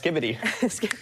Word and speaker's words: Skibidi: For the record, it's pronounced skibbity.